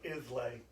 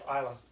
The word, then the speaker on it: Islay: Died at age 91 in Islay in 1997. Aw. We love Isla. That's where our favorite scotches are from. It is. To Americans, it is spelled Islay, but to the Scots, it's Isla.